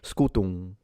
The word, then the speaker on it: scutum: When we try, because in ecclesiastical pronunciation is fine to pronounce the M, not a problem, but in classical the M should be almost non-existent. It should be scutum, just mildly nasalized, and he did it right.